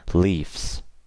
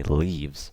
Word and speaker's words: leaves: sound okay leaf leaves and I never say Leafs okay that's wrong say leaves wives not wife's wives okay